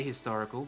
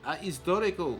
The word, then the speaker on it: historical: um that is yeah I would say a historical because you'd normally use and in front of a vowel but maybe the French would go historical like they wouldn't pronounce the h Maybe it's because the